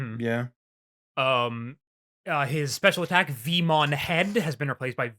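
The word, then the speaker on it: Veemon: So, Vmon is said the same, but it's spelled differently. In Japanese, it's the letter V-mon. In English, it's V-E-mon.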